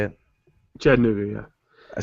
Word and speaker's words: Chattanooga: Chattanooga, yeah.